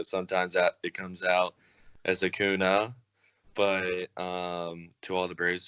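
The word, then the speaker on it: Acuña: I've always known that to correctly pronounce his name, it's Acuna because of the way it's spelled.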